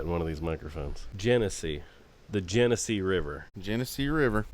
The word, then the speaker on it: Genesee: Genesee. The Genesee River. Genesee River. And that's how you pronounce it, folks.